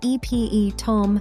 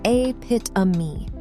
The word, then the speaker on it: epitome: If you said e-p-e-tome, you're not alone. But in America, we actually say a-pit-a-me.